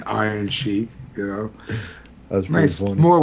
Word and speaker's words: Iron Chic: iron chic like nice spelled like c-h-i-c you know so like chic like that but said like iron sheik you know that's nice